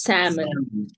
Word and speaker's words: salmon: how salmon but it's salmon salmon L is not pronounced you see yes I